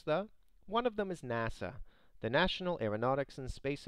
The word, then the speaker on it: NASA: one of them is nasa the national aeronautics and space administration it doesn't use the and is pronounced as if it is a word can you see the